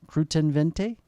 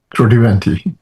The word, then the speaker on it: Kruttiventi: And I think that the man I'm about to speak to, please forgive me if I get your last name wrong. Croutente. Crudente.